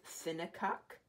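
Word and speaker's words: synackuk: y n a c k u k that's synecock it's a developer of the tool s y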